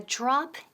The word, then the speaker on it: drop: Now pronunciación, la DR, drop. Drop. Suena un poco como la J inglesa, como Jennifer, y con R. Drop. Drop. No es drop.